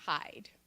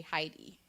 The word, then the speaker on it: hide: word in the story maybe hide but they say Heidi they're pronouncing the e so I might say to them okay for this word do you remember the rule about I constant II what happens to the I is that long or is it short